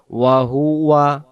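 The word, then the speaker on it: وهو: তাবারকাল্লাজবিয়াদিহিল মুলক ওয়াহু আলা কুল্লি ওয়াহুয়া ওয়াহু আয় ওয়াহু আবে না উচ্চারণ হবে ওয়াহুয়া আলা ওয়াহুয়া আলা আলা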